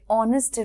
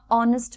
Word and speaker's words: honest: যখন আমরা অনেস্ট ম্যান বলছি বা আর বলছি তখন কিন্তু আমরা উচ্চারণ করছি ও এর, এইচ এর উচ্চারণ হয়, সেটার উচ্চারণ আমরা করছি না। যেরকম আমরা অনেস্ট বলছি, ও এর সাউন্ড আসছে, ভাওয়েল সাউন্ড আসছে ও, অনেস্ট ম্যান। আর, ও ইউ আর এর উচ্চারণ হচ্ছে এইচ, এখানে সাইলেন্ট।